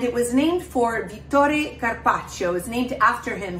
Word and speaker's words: carpaccio: I want to briefly talk about Carpaccio, or Carpaccio, depending on where you're pronouncing it. The C-I at the end of the word has a ch sound in Italian.